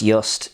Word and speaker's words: Jüst: dill flavoured gin from sweden pronounced just embodies the swedish culture